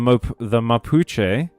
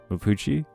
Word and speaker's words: Mapuche: The Mapuche, an indigenous people... Did I pronounce that correctly? Mapuche. Mapuche?